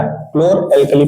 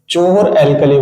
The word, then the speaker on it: chlor-alkali: क्लोर एल्कली process. इसको बहुत लड़के जो जानते हैं, इसको जो प्रोनाउंसिएट नहीं कर पाते हैं, क्या करते हैं? चोर एल्कली बोलते हैं। क्या बोलते हैं? चोर एल्कली प्रोसेस।